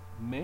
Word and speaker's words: mais: Mais, you drop the S.